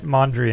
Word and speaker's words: Mondrian: completely uh you're right Mondrian oh I said it wrong I think I said manjun Piet anyways so if